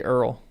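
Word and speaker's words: Eorl: Let's just say Earl. Earl. Got to pronounce that right.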